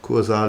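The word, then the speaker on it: Kursaal: is funny kuza uh it's really called kuzal even is in spain and yeah it's even spelled like the german word uh however it's in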